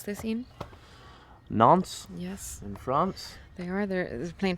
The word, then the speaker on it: Nantes: They go to, how do we pronounce this, Ian? Nantes.